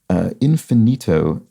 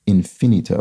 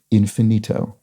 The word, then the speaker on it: infinito: A multiple syllable word ending in a vowel will stress its penultimate syllable unless overridden by an explicit accent. So here we would have infinito.